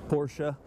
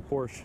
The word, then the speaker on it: Porsche: definitely have to be Porsche. That's actually the first time I've ever pronounced it the correct way. Usually I just say Porsche.